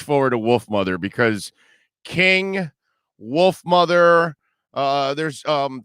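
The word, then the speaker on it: Kyng: seen them in concert king is ken k-y-n-k k-y-n-g is the way that king is spelled and they're really if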